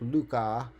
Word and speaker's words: Lucas: a similar one that a lot of people call the Lucas sequence but technically is pronounced more like Luca so like the Luca sequence um and so this